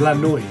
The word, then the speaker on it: la noia: It's la noia. Yeah. I knew I'd be pronouncing this stuff wrong.